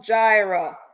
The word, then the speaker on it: Jireh: Jireh, it's pronounced Jireh.